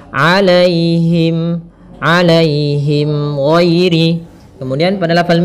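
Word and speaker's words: عليهم: pada lafal alaihim alaihim di sini ada ya sukun yang didahului dengan fathah ini kita namakan dengan bacaan Lin maka lembut dalam pelafalannya alaihim alaihim Giri Kemudian pada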